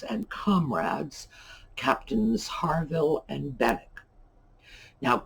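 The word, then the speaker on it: Benwick: comrades captains harville and bennek now captain bennek's name is pronounced that way the w is silent he has been uh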